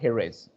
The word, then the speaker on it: Jerez: the south of spain that's a place called jerez we call it as there is but actual pronunciation according to the spanish language it's known as a heroes okay now take a